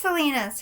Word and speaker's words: Selena: really that that's a selena's song selena i say salinas because that's what the people from her home actually call her and we're all saying it wrong because we're ignorant americans and i'm not ignorant